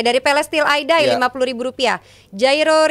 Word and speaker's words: Jairo: Jairo Riedewald, bener gak tuh bacanya? Hairo. Riedewald. Hairo Hairo kan?